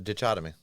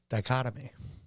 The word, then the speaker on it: dichotomy: you mean the name of the song the ditch aomy bother my soul that's right that's how it's pronounced the ditch ofy we're going to move past it no go ahead say it right dichotomy I know what you're doing no I said